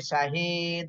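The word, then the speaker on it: شَهِيدٌ: বলতেছে আচ্ছা খেয়াল করেন শিন জবর শাহা জের হি শাহিদ আল দুই পেশ দুন শাহিদুন উচ্চারণের সময় বলতে হবে শাহিদ শাহীদ দালে সাকিন হলে দাল কলকলা করতে হবে শাহিদ সদ পেশ সু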